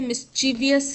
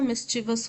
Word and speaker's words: mischievous: क्योंकि लोग पढ़ते मिस्चीवियस हैं, इसीलिए वो लिखते भी मिस्चीवियस है। आय नहीं आएगा, मिस्चीवियस नहीं होता, मिस्चीवस होता है।